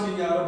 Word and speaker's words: Kenyvttv: You can find out more about Kinyatta on Instagram, Viva Kinyatta. It's pronounced Kinyatta, but I spell it crazy.